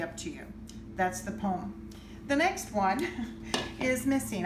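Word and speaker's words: pome: classification is called the poem and it's spelled P om e sounds like a poem that you're gonna write that rhymes and so forth but it's not it is a fruit that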